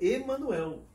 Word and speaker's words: Emmanuel: comme Claudia a prononcé, o meu nome é Emmanuel. mon nom c'est Emmanuel. Mas ela o pronunciava com accent, com acento Emmanuel, que não existe no meu nome especialmente.